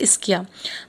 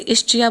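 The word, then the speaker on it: Ischia: ये एक seaside village है इन सदर्न इटली, जिसका नाम है इस्किया। बहुत से बच्चे इसे इस्चिया बोलते हैं, विच इज़ रॉन्ग। इसका प्रोनाउंसिएशन इस्चिया नहीं है, इसे इस्किया कहते हैं।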